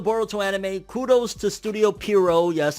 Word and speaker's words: Pierrot: So kudos to the Boruto anime, kudos to Studio Pierrot. Yes, I'm saying Pierrot from now on, not Period anymore. I've said Period for 10 years. We're going with the actual pronunciation.